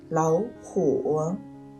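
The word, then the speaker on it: 老虎: 三声变调，所以两个三声音节的字相连时，第一个字要读成二声音节，也就是老虎和跑远中第一个老和跑要读成老和跑，连起来读就是老虎跑远。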